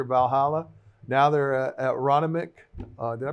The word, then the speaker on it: Aronimink: Now they're at Ronimink. Did I pronounce that I correctly? played there. Yeah? Did I pronounce that correctly? Aronimink. Ronimink. I played there a couple of times, actually.